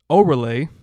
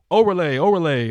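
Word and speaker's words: Órale: My drink today is the Shiner, I believe it's pronounced Orale, Mexican style cerveza. I think it's like, like Andale. Orale.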